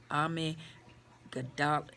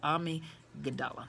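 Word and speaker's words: amygdala: responsible for memory and learning while enlarging that army gadot army okay I went looked it up I want to make sure I pronounced it correctly and so the way that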